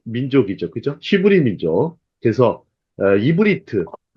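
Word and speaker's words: עברית: 그래서 이브리트. 발음은 이브리트인데 히브리 민족의 특징이 이 건너온 자들이라는 표현이 있어요.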